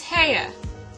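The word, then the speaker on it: Haigha: His name is Heya." He pronounced it so as to rhyme with mare.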